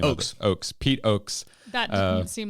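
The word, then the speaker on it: Oaks: I was going to say ox.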